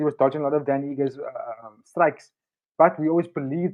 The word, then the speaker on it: Ige: Oh, Dan Ige.